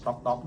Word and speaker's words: Tok Tok: คำ ว่า ช่าง หนุ่ม Tok Tok ที่ อ่าน ว่า ช่าง หนุ่ม ต๊อก ๆ ได้ ทุก แพลตฟอร์ม เช่น